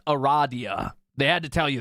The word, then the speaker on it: Aradia: Trial glimmering Gold and cold iron it is pronounced Aradia they had to tell you that so you